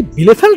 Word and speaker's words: Bielefeld: বিলে ফেল্ট, এবং এটা কি বিলে ফেল্ট না বাইলে ফেল্ট? আসলে জার্মানরা বলে বিলে ফেল্ট, এবং আমি আসলে বি আই দেখে সেটাকে বাইলে ফেল্ট বলছিলাম।